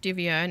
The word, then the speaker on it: Divierne: It's pronounced Divierne. It's a made-up word. I made it up when I was like 15 and I don't even remember.